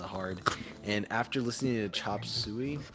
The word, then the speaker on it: Chop Suey: How do you pronounce it? Is it sway or suey? Suey. Yeah. Cause my friend was saying chop sway, and I'm like, no, it's Chop suey.